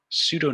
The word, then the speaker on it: pseudo: about with that so pseudo noise which i'm going to abbreviate to be pn which is a little frustrating because it doesn't actually have a p sound at the beginning but pseudo noise is